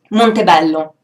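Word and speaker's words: Montebello: to my home and it's called Monte Bello Monte Bello that's the Italian pronunciation um this Castle uh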